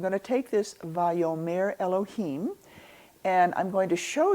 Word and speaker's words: Elohim: Elohim starts with an Aleph, and it's pronounced here as an elo, lo, him.